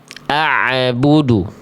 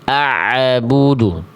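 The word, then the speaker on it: أَعْبُدُ: Contoh di kalimat ini jangan sampai dibaca a'budu. A'budu itu bacaan salah. Ainnya ada mantul-mantul. A'budu harusnya a'budu. Beda enggak antara bunyi yang ain yang ada mantulnya a a'budu dengan bunyi ain yang tak ada pantulannya.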